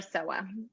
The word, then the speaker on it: Sowa: you uh okay my name is dr soha okay little a yeah you have to roll